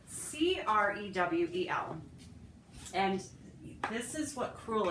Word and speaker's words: crewel: And there's something called, it's a type of needlework, and it's called crewel, and it's spelled K-R-E-W. Was it K or C? I'm sorry, C. You're right. Oh, sorry, honey. That's all right. C-R-E-W-E-L.